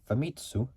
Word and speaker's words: Famitsu: in Japan um magazine video game company called famitsu which is spelled f a m i TSU so f m i t Su U famitsu